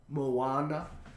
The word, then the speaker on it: Moana: But like, you say Moana. Moana. Moana. That's how you say it.